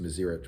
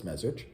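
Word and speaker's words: Mezritch: He was one of the famous of the Magid of properly pronounced miserich but everyone says mazich.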